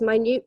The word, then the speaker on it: minute: Newt detail okay so we have different pronunciation for different meanings okay quite different minute periods of time and minut meaning what does my Newt mean okay Ambrose got it yeah tiny tiny tiny tiny very tiny a minut detail okay so pronunciation of